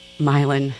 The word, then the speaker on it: Milan: You can call it Milan if you want. Lots of Italian people do. But it was written in my neighborhood in New Orleans, which is pronounced Milan.